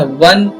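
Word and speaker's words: one: वन का sound यहां पे व आ रहा है। तो यहां पे ये क्योंकि कसोनेंट है। कंसोनेंट है इसलिए यहां पे ए का यूज़ करेंगे। है ना? अ वन यहां पे ओ को नहीं देखना है अपने को।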